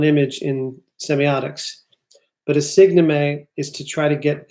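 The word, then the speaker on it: signeme: something that he pulls from semiotics called the signomy. The signomy, okay? The signomy is spelled S-I-G-N-E-M-E.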